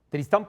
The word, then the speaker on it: Tristán: escribía, si por supuesto se escribe con acento en la segunda sílaba.